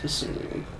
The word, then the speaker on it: Kasumi: It's pronounced Kasumi.